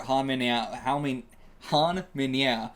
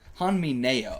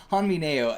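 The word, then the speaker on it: Han Mi-nyeo: absolutely baller way for Han Minya to take out. How is that how you pronounce her name? Let me look this up again. I might be misremembering how it's spelled. Han Mineo.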